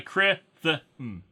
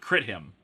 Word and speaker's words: Krithim: Like you have the pronunciation C-R-I, Krithim. Not Krithim. Not crit him. Krithim.